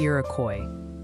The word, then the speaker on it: Iroquois: They're gently suggesting Iroquois County is pronounced closer to Iroquois. Keep up the great work. Stay safe, everyone. Iroquois.